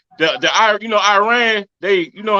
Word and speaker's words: Iran: this we're pronouncing our country's name wrong our country is named Iran not Iran please once and for all let's get this